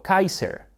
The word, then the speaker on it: Kaiser: Y la pronunciación alemana de Kaiser en realidad se parece mucho más a cómo los Césares lo habrían pronunciado, porque César es una pronunciación posterior del latín, mientras que el latín clásico pronunciaba todas las C como una k fuerte, así que ellos lo habrían pronunciado Kaiser.